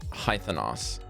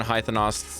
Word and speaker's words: Haithenos: They mention one of the 12 noble dens of the Kryn dynasty, and this den is called Haithenos. That's how you pronounce it. Hythenos.